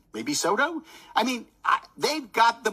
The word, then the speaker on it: Soto: Probably rhymes with Moto. Maybe Soto?